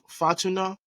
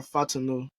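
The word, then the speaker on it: Fautanu: Troy Fatuna, did I pronounce that right? Fatuna or Fatunu? I've been hearing Fadanu. So, hey, Fatunu, okay.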